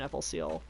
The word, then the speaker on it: FLCL: I've only ever seen people complain online about the pronunciation FLCL, which is fine. Like, everybody knows it's not an acronym.